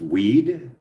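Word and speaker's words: Wied: The last name is Weed. Sounds like Tony Weed. He's your congressman for Green Bay. Last name's pronounced like weed.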